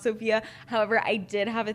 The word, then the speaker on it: Sofia: It's Sofia with an F. It's pronounced Sofia.